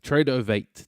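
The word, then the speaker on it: Tradovate: Tradeovate. Yeah, phonetically, that's correct. Tradeovate.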